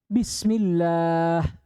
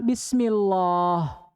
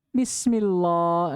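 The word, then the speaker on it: بسم الله: Allah itu Dikas dikasrah contoh lillah bismillah dibaca tipis Jangan dibaca tebal bismillah ini alai sekali bismillah gak boleh karena yang dibaca tebal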